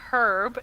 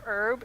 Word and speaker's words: herb: that like that in do they pronounce the h in Canada or was crystal just